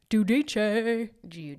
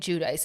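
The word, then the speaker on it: Giudice: to have an Italian accent, but I think Judice is the right way to say it. Judice. I feel like they have more. I think Judice is how the Americans say it.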